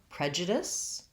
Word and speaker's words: prejudice: So prejudice has first syllable stress, and it has the red tent vowel, sounds like eh. J. The letter J says the J sound. Prejudice. And then this letter U says a schwa, unstressed.